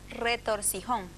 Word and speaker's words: retorcijón: palabra nos preguntan si se pronuncia o se dice retortijón o retorcijón Pues el español no perdón para esos dolores breves y agudos ambos términos son válidos todo depende del uso regional Yo también digo retorcido